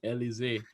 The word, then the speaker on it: Elizeé: Yeah, Elizeé. That's kind of like there's a drink. I think it's Alizé. Alize. Yeah, it's similar pronunciation Yeah, anybody ever tell you something about that?